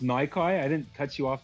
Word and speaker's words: Nyki: like Well, you could It looks like it could be pronounced Nikki because the Y could be either, you know, play on words there.